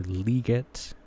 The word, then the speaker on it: Legette: Like I I'm not the biggest believer in Xavier Legette or Legette, uh, is how you pronounce it actually.